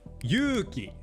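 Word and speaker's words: ゆうき: So, while yuki means snow, yuuki means courage. Yuki is two kana, so it has two moras of length. Yuki. But, yuuki has three kana, so it has three moras of length. Yuuki.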